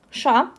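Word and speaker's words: Ш: The another consonant is sh. Sha, and the sound is sh. This letter is pronounced in a hard way, like sh. Here, no soft sound here. And then in English, the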